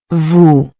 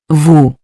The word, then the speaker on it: vous: Vous. Vous. The final S in vous is also silent, just like nous, unless it's followed by a vowel.